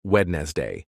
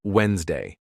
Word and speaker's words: Wednesday: comfortable instead of comfortable Wednesday wedes day instead of Wednesday so if you want